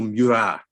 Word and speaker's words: Murat: Or Marshal Murat, as we should call him, to do the French pronunciation.